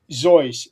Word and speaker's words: Seuss: It's actually pronounced Dr. Zoyce. I'm gonna put a note in my phone that says Dr. Zoyce / Seuss, and I'll find it